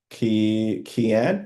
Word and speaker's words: Keon: Um, Kan, am I pronouncing your your name correctly? Hi. Yeah, Keon is right. That's right.